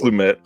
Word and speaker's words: Lumet: I always say Lumet because I always think it's LeMay, but I think it's not pronounced that way. I think it's Lumet.